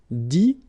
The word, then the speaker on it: dit: Okay, dire, IRE as well, will give you dit, same thing here, IT, but then you pronounce it I, okay.